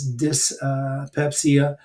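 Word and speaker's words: dyspepsia: lactosein tolerance uh in digestion which is uh just pepsia um dis or dice but mostly uh people pronounce this dis uh pepsia and then there's also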